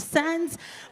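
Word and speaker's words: Sands: S to the A N D S pronounced Sans, but you can call me Sansy.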